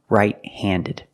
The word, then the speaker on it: right-handed: write with my right hand so I am right handed I'm right-handed pronounce the Ed Ed handed I'm right-handed and